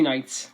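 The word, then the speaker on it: Knights: honorable mention goes to hot country nights the k is silent god this album is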